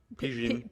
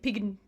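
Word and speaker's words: Pijn: So yeah, they're headlining with, I don't know how to even pronounce that one, P-I-J-N? Pigeon. Pigeon. Pigeon. Sorry, Pigeon.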